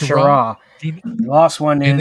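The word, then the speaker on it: Schirra: Walter Skira. Shara. It's pronounced Shara.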